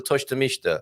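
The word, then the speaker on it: tosta mista: Oh, we've been sent a picture of a Toshta Mishta, which we should also pronounce correctly and show on the screen.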